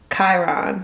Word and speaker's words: Chiron: Rhymes with Myron. Myron, so Chiron.